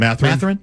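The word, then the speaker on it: Mathurin: How do you pronounce it? Matherine.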